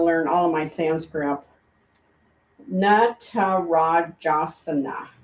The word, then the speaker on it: Natarajasana: Natarajasana. Natarajasana. The na, remember, is dancer, and ra is king. So king of the dancers. Natarajasana.